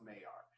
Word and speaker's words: Maillard: And it looks like Maillard is how it's spelled, but I believe it's pronounced Maillard.